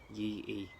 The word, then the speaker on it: Yi I: So similar to pattern Yo-Gok, that was named after the scholar Yi I. It's actually pronounced E. Yi E.